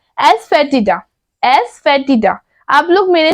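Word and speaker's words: asafoetida: हींग को इंग्लिश में हम लोग बोलते हैं एस फेटिड एस फेटिड आप लोग मेरे साथ बोलिए जिससे आपका प्रोनाउंस भी सही होगा एस फे टडा हींग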